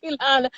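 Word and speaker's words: Keilana: I'm probably saying her name wrong, but Sister Kaylana. That's right. You saying it right. Sister Kaylana.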